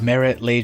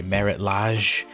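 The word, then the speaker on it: Marit Lage: know the card that fuels my nostalgia is Merritt Leigh jizz slumbers how do you pronounce that anyway Merritt Lodge that's a Merritt lodge Merritt lodges slumbers so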